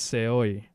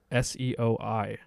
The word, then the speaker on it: seoi: Yeah, it's Seoi. Seoi. Nage. Okay. FYI, dog. Danaher would be fucking scowling at you right now. He would do that anyway. Yeah, he would do that. So anyway, failed drop Seoi Nage by John, and Chris ends up on